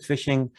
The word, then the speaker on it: phishing: so forth and then fishing with ph not fish it's phishing and this is how you pronounce it phishing and it's basically um